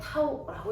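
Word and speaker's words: τ: 그 돌림힘을 우리는 이렇게 쓰고 얘를 타우라고 읽어요. 타우라고 읽어요. 됐죠?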